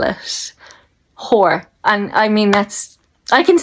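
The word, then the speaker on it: Hoare: This is how you spell it. Whore.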